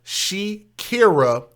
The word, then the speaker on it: She'kierrah: And he shot and killed this young woman right there by the name of Shekira Adams. And I'm going to spell that for you.